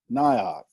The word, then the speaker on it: NIOC: about with the nioc so exactly how do you pronounce nioc how do you say it well so we settled in on nyot and you see the